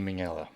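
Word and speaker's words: Minghella: with us anymore Anthony mingela yep Ming mingela mingela hard G on that um mingela no Anthony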